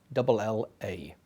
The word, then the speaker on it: guerrilla: That's spelt Guerrilla, pronounced in Spanish guerrilla.